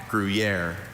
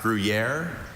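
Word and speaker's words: Gruyère: There are a couple. I have griier. Also, griier. Griier. Grriier.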